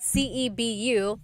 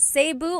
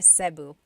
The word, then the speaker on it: Cebu: So, technically in the Tagalog alphabet, the letter E can be pronounced E or E like the letter I. So, I say Cu. Cebu. And I know some people say su, but usually it's either su or sebu.